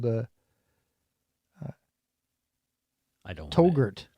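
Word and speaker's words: Touggourt: called the I don't togurt togurt togurt like yogurt yeah it's in Algeria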